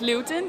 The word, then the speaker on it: Luwten: it all started so our name is Luton it's spelled L u WT en and you can find